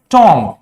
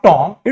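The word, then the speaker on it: tomb: इट्स not warm, it's वूम। इट्स नॉट टॉम, इट्स टूम।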